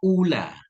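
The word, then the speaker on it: أُولى: Kalau yang pertama ula muannas dari awal ula afdal fudla kayak hubla itu anasnya. Iya. Jadi kalau pertama ula bacanya kalau lebih utama aula afdalama fudla kan.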